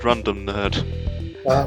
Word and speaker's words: Rundum Nerd: It is pronounced Rundum Nerd. Mike, you're up next.